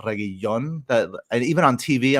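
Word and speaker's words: Reguilón: one one lse it's regon not regon that and even on TV I'm listening to it and that for some reason they're not pronouncing the L I'm sorry these things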